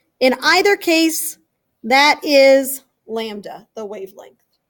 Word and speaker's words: lambda: letter anybody know the name of it lambda L AM B da is the way that you spell the pronunciation of that Greek letter lambda say it